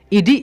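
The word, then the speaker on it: id: के रूप में है, तो यहाँ पर आईडी है, तो आप इसको ईडी पढ़िएगा साइकोलॉजिकल टर्म में, तो आप देख पा रहे हैं आईडी जो है इसका उच्चारण जो होगा यहाँ पर ईडी हो जाएगा।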